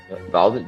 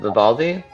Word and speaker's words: Vivaldi: It's Vidaldi. Vivaldi?